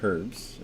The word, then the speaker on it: herbs: Uh, underrated herbs in case I haven't mentioned. No, we didn't. Uh, but we're talking about underrated herbs. We We kind of herbs. Herbs. Why is it herbs? The H is silent.